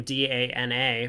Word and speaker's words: Dana: back in the day, Dana Berkowitz. Everyone else that I know with the name D-A-N-A pronounces it Dana. But for her in particular, it is Dana.